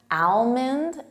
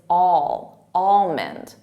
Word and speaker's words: almond: For native speakers, I hear almond, but it's not al, it's almond, almond. And the emphasis is on that almond.